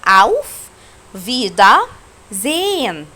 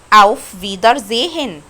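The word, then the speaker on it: Auf Wiedersehen: طب حرف الار انت ما نطقتوش هنا، يعني ما احنا اتفقنا ده قبليه فوكال فمش هنطقه، يبقى فيدا. والكلمه دي اسمها زين. طب حرف الها برضو انت ما نطقتهاش عشان برضو قبليه فوكال. طب انت في المدرسه هتسمعها ازاي؟ اوف فيدر زيهن، هتسمعها كده في المدرسه اوف فيدر زيهن.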